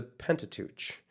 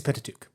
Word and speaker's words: Pentateuch: Is it the Pentateuch or Pentateuch? I think it's Pentateuch. Pentateuch. At least that's how we pronounce it in the U.S., so, or the way that I've always heard it.